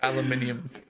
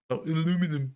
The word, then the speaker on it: aluminium: Yes, we say aluminium. Aluminum. Yeah, aluminum. Also, I've always said, right, I've always been like, obviously it's aluminium. There's an extra I in it.